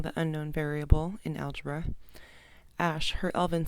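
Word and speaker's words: Æ: It's like pronounced Ash.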